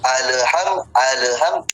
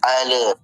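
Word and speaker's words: الحمد: Nah, jadi ketika penyebutan alham jangan pula dipantulkan. Jadi alham jangan tapi dia dijalankan sedikit. Alham alhamdulill bukan al tapi alham lidahnya sikit jalan alham.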